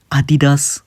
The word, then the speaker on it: Adidas: Okay, you have companies like Nike, Adidas, okay, that's how it's pronounced that are called classic that will never leave.